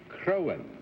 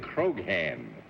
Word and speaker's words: Croghan: And for nearly 18 years, I've been trying to teach you it's John Charles Patrick Crowan. That's the what G I said, is silent. You said Croghan.